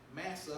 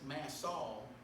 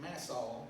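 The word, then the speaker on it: Massah: simply mean just that massa or actually the correct pronunciation for what i looked up is mass saul it's mass all and that means tempting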